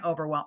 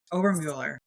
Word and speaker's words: Obermueller: So, please welcome Oberwell. Oh my gosh, I mess up your name. I do it every time. Ober, right? Did I say it right? I'm the worst. Ober Mueller.